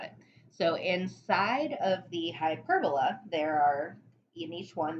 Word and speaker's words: hyperbola: graph is called a hyperbola so hyper bola it's kind of like hyperbola it's spelled the same way as hyperbole in language arts class but it's an idea